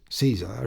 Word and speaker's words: Caesar: "Caesar equals Kaiser," Tietjens said.